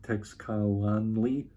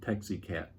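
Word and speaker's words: Teixcalaan: Roughly off the top of my head, I tried to go like Texcalanli, and there's a few different attempts at the pronunciation. One reviewer said I kept calling it Texicat, and that's what I'm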